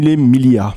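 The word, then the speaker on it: Mille Miglia: course la M Miglia je suis pas sûr de bien le prononcer en italien c'est mil Milia merci la M Milia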